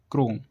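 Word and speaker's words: chrome: जब किसी वर्ड के शुरू में सी एच के बाद आर आए तो सी एच को का से पढ़ते हैं। ऐसे क्रोनिक क्रोम क्रिश्चियन क्रिसमस क्रिस्टुलाइट इन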